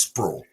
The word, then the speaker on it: Sprewell: place called squirrel Bluff spelled Sprewell I don't know how they get the word sprawl out of it but it's sprawl but it's a it's